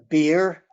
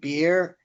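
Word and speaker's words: Baer: see um tom tom bear um beer uh tom beer i think he spells it b-a-e-r but he pronounces it beer um julie graff g-r-a-f-f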